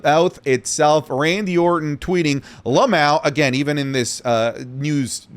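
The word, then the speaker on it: LMAO: Randy Orton tweeting, Lamau, again, even in this news series, I'm telling you, it's pronounced Lamau, just milking it, guys.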